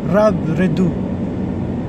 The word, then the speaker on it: Robredo: By the way, I want to share that the correct pronunciation of Leni surname, it's not Robredo, it's actually Robredo.